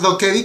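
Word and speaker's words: 도깨비: que empecé a ver goblin se pronuncia do kevi que significa goblin o que es traducido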